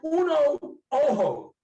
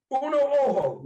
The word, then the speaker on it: Uno Ojo: It's actually Uno Ojo. Uno Ojo. Ojo. The J is pronounced like an H.